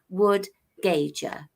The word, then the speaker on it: Wood-Gaiger: that's my Christian name, the first Okay, name, and then my surname is Wood-Gaiger.